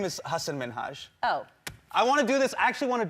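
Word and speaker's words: Hasan Minhaj: television good please because everyone that says your name says hassan minaj yeah but the real way you pronounce it and this is a big deal because my parents are here it's hassan minhaj and people always mispronounce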